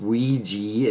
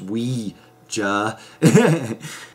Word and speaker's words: Ouija: to this movie I now learned it's not pronounced Ouija it's pronounced we Hey so anyway brings the board out and he